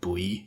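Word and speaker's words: buoy: there's also some and i always pronounce this word wrong uh boy i think it's just pronounced bowie in english right and there's also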